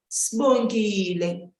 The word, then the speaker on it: Sibongile: Sibongile, sibongile. But if I'm saying someone's name, I would say, sibongile, sibongile. Do you hear that? The bo, more especially the bo, is so different between those two.